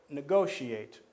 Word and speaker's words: negotiate: Or negotiate. Negotiate, 4 syllables, same thing. Start at the end, count back 2. 1, 2, and there's the stress.